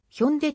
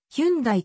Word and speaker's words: 현대: されている韓国語ではヒョンデと発音するが社名およびブランド名の英字表記はヒュンダイとされているかつての日本で